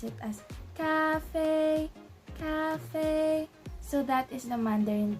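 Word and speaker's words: 咖啡: So the translation or Mandarin term for coffee is cafe, cafe. So as you can see, both syllables have the first tone. So we're gonna sound like ah, ah. So we're gonna pronounce it as cafe, cafe.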